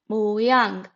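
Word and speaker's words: 모양: in Korean is mang moang it is very easy a two syllable word moang moang so shape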